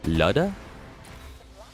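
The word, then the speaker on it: Lyuda: Leuda is apparently pronounced Luda or Luda.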